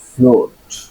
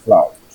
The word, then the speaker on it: flout: ফ্লোট, ফ্লোট না ফ্লাউট? আরে আরে ভাই, ফ্লাউট।